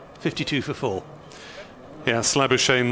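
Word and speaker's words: Labuschagne: two for four yeah slabby shane rhymes with champagne was the uh the easier version that i was told although uh probably when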